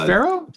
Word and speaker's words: Pharaoh: I don't even know how to pronounce this. Uh Farajo or Faro Ramut. Pharaoh. Pharaoh. Is wait is that Pharaoh?